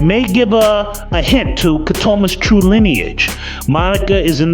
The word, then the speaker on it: Ketema: Also, his name is pronounced Ketema, not Ketema, even though it's spelled that way.